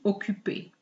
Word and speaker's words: occupé: However, the pronunciation is not affected. Je suis occupé.